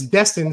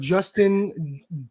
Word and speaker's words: Destin: Yeah, I mean, my name's Destin, so it gets mispronounced every single day. It's when they say Destin, I've heard Justin, Dustin, Jestin, like the most bizarre names you ever heard.